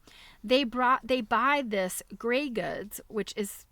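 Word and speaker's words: Greig: this gray goods pronounced gray goods like the color gray in great quantities if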